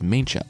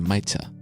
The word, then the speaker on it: Maicha: I pronounced it as Maincha, and it's really closer to Maicha.